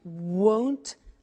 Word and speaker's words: won't: Won't, remember the difference between will not, won't, and want, won't, want. So be careful with that pronunciation.